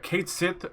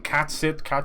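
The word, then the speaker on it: Cait Sith: There's always a worry about how to pronounce that name. Catsit. It's kind of Irish, kind of Gaelic, so it's a bit tough. We would say Catsit, but Catsit is, I think, is fine too.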